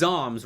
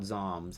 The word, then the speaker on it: Zoms: But, so it is Zoms, right, Hybrid? Because in the SEL pronunciation document, I'm pretty sure it's spelled out Zoms, like Pika Zoms.